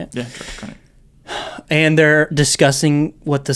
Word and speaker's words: Krennic: Yeah, Krennic.